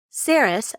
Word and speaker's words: Saris: green Donna see Herod saris rhymes with Paris is eight and has